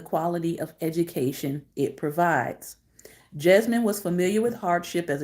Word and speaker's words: Jesmyn: women tonight's african-american profile is jasmine ward that's pronounced jasmine j e s y and wonderful color illustration